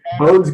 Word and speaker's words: Bode: Okay, so Bode's Galaxy, is it pronounced Bode or Bodie or Bode? Bode. Bode. Bode, I think he was German, Bode.